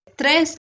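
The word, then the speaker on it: treize: ये सारी ये स्पेलिंग है, याद रखिए। हम फिर से करते हैं। 11 30 बोलते हैं थ्रेस।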